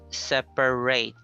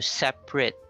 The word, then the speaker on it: separate: If used as a noun or an adjective, then use a schwa. Okay, for example, here we have please separate.